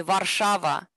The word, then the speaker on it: Warszawa: The real pronunciation would be Warszawa, and and it's very interesting because at that time, at her time, Marie Curie, it was part of Russia.